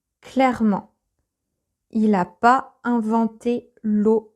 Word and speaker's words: l'eau: You don't pronounce them O at all, but together, for some reason, O.